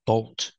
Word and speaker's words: bolt: and the word is Bolt use a long o like old and cold bolt with a T at the end a lightning bolt is